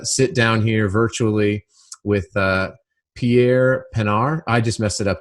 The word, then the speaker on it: Pierre Pinaar: I'm so excited to sit down here virtually with Pierre Pinaar. I just messed it up, didn't I? Did I say it right? Pierre Pinaar. Yeah, perfect.